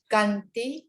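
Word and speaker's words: khantī: Not Kananti. No. Kanti cha sova cha sata samana nancha dasanam kalena dhammasa kacha etam Maṅgala muttamam.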